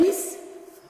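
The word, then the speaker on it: Wis: Vis qui s'écrit W-I-S.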